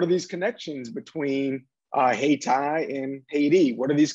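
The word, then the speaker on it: Hayti: durham uh which uh coincidentally uh were called hey tai uh right that's how locals pronounce it but of course it's spelled uh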